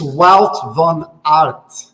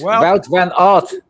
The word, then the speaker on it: Wout van Aert: John, it's Wout van Aert. That's it. Wout van Aert.